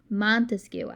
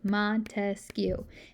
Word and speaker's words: Montesquieu: i like to remember montesquieu because his last name is three syllables if you go all the way back to where you used to clap out your syllables in uh in elementary school montesquiou has three syllables montesquieu and the reason